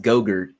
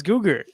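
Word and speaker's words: Go-Gurt: Vince, it's pronounced Gogurt. Did you not have a childhood? Well, it's spelled incorrectly. It's Googer. Okay. No, it's not. It's not Gogurt.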